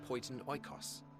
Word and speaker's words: Poiton Oikos: Here you will find a number of testing facilities, as well as the observation hub of Poiton Oikos. Poiton Oikos. Okay. Now I can pronounce that.